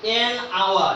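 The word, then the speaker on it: hour: তাহলে আমরা এখানে বসাবো কি এন আওয়ার। এখানে যদি এস এর উচ্চারণ হইতো তাহলে কি হুয়ার হইতো, কিন্তু এখানে হুয়ার হয়নি, হচ্ছে কি আওয়ার, ওর উচ্চারণ।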